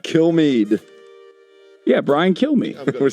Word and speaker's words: Kilmeade: It's Kilmeade. Kilmeade.